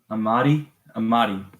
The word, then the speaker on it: Amadi: Amadi. That's how you say it. Jax was played by someone named Ike Amadi.